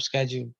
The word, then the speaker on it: schedule: 9 to 5 means that an average job schedule, okay। So schedule or schedule ਦੋ pronunciations ਨੇ ਇਹਦੀਆਂ, ਤੁਸੀਂ ਯਾਦ ਰੱਖ ਸਕਦੇ ਹੋ, both are right, depends upon in which context are we speaking, got it?